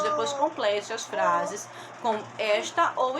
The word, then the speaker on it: esta: aí esta tá e esta gente esta percebam que a sílaba tônica é e está a sílaba tônica é que tá inclusive e acentuada essa